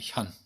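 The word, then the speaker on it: 見: 이때는 견이라 아니라 현이라고 했네. 현. 자, 견이라고 발음될 때는 볼견자지만 현이라고 발음될 때는 이현자 있죠?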